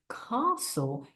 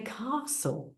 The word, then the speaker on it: castle: when they're reading that we don't pronounce those words we don't say cast we say castle and this helps them